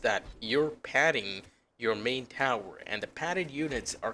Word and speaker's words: Taur: you’re padding your main tower and the padded “units” are capable of different things. The game’s name is pronounced like “Tower”, I assume, so it’s literally in the name.